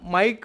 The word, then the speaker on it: MIC: और देख सकते हैं इसका जो प्रोनाउंसिएशन है आप माइक बोलकर कर सकते हैं दोस्तों, माइक इलेक्ट्रॉनिक लिमिटेड।